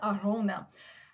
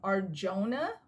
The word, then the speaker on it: Arjona: But this movie stars Glenn Powell, our new movie star, and Adria Arjona. I see a lot of people pronouncing her name Arjona, but I think it's